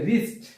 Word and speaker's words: wrist: এরপর হচ্ছে wrist, wrist অর্থ হচ্ছে শিল্পী, wrist। এখানেও আমাদের এই যে wrist-এর w অক্ষরটি উচ্চারণ হয়নি, এখানেও w অক্ষরটি উচ্চারণ হয়নি।